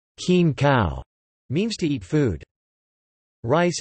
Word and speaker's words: kin khao: As in many other rice-eating cultures, to say, eat rice, in Thai, khin khao, pronounced as khin khao, means to eat food.